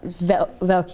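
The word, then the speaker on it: Valcke: No, so General Secretary Jerome Velke, is that how his name is pronounced? Velke, yes.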